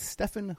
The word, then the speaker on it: Steffen: His name is Stefan, and it's spelled Steffen, and his last name is spelled.